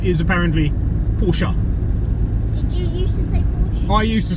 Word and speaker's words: Porsche: Porche porsa porsa I said pors yeah Porsche Porsche is the incorrect pronunciation it's the correct pronunciation is apparently porsa did you used to say Porsche I used